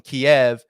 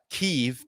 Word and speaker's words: Kyiv: and go to Ukraine, in Kiev, which is now Kyiv, because of course we have to erase any kind of Russian pronunciation of anything. So it has to be Kyiv, as the Western Ukrainians and the Ukrainian nationalists call it.